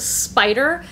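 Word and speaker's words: Spyder: coming home with me it's a spider but spider is spelled s-p-y-d-e-r these are women's activewear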